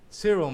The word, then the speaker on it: Cyril: That's Cyril, my name. Yes, that's how it's pronounced.